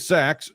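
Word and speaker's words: Sacks: it's so small but it's spelled like sack like a sack of something s c KS uh he is going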